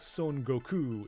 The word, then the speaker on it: Son Goku: actually the same spelling it's just Sun wuk Kong is the Chinese reading and Son Goku is the Japanese reading I've never I've never